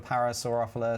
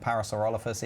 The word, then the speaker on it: Parasaurolophus: don't I don't really want to save a parasol ruffler so I know Parasaurolophus even I said it wrong I don't want